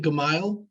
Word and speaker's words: Gamel: We pronounce it Gamile, like M-I-L-E, smile, Gamile. smile, that kind of thing.